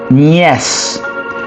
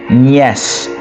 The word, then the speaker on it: nièce: And then the next one you can add as an additional one is niece, which will be nièce. Similar spelling but different pronunciation. So nièce, right?